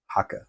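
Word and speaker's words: Haake: who is Thomas hak Haka Haka it's not H doesn't rhyme with rake and that's partly because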